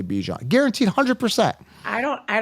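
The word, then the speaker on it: Bijan: to say it and I guarantee 9 out of 10 people will say bye Jam they will not say Bijon guaranteed 100 I don't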